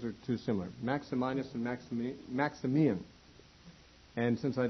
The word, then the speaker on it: Maximinus: I don't know if it's Maximinus or probably it's Maximinus. That's how I'll pronounce it, I guess.